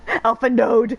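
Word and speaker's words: Alphinaud: Alpha node! Like, no, the D is silent! You don't say the D!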